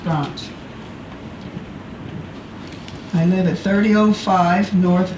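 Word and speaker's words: Branche: Last name is B as in boy, R-A-N-C-H-E, pronounced Branch.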